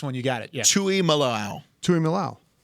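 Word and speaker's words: Tuimoloau: right that last one you got it yeah tuy malow tuy malow right so there's I don't know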